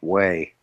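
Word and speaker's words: Huế: Oh, are you going to like Hue, the city of I think it's Hue, Hue, but it's pronounced like Way.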